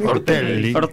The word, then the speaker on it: Ortelli: Ortelli está bien así. Ortelli. Nada, es como los chicos. Con la doble Ortel. Con la doble L.